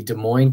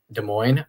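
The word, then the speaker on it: Des Moines: up we have the De Moine Christian Illumination in Iowa there no s sounds at the end of De Moine either word despite the s's that are there I feel like some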